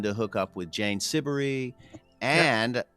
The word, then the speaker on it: Siberry: Is that how you pronounce her name? Siberry. Siberry.